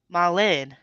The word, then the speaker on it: Marlene: all love the switch english people say marlene is in the e as in diesel but in dutch it's e like pronouncing the word danish so like the a marlin okay is my loose